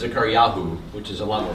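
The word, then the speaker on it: זכריהו: Or the actual Hebrew pronunciation is Zechariahu, which is a lot more fun to say.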